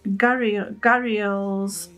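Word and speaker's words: gharials: that's so cute right i don't know how to pronounce this gabriel gabriel's or something canals i always thought it was a crocodile yeah it's gary gary ells and it's a type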